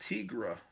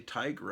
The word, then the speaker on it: Tigra: I I think I I thought it was pronounced Tigra when I was a kid I think that's how I pronounced it then later I heard people say tiger and then I realized oh yeah it is supposed to be Tiger but as a kid